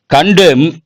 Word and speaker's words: condemn: Condemn, the letter N is silent.